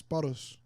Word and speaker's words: Paros: Damn, you didn't even say his name right. Oh, He was here for the whole thing. It's Paros.